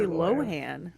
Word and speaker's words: Lohan: I mean, how do you pronounce Lindsay Lohen? It's Lindsay Lohen, not Lindsay Lohan. It's Lindsay Lohan.